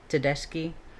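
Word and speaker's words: Tedeschi: Uh, to I'm going just spell it. T E D E S C H I. Teski and Calhoun studied something called post-traumatic growth.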